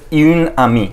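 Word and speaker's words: une amie: First of all this will be pronounced as यून आमी।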